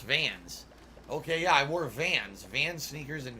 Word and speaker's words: Vans: wasn't into the culture oh is it pronounced vans you don't even know i thought it was vons i guess pronounced vans okay yeah i wore